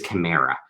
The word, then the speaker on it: chimera: things are called i i think the pronunciation i've i've done this wrong all my life i think it's chimera um and a chimera